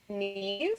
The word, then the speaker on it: Niamh: So her name is Neve, but it's Niamh. But there's no V.